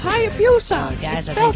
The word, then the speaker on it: Hayabusa: Well, that was fun, even though it is pronounced Hayabusa. No, it's not. It's Hayabusa.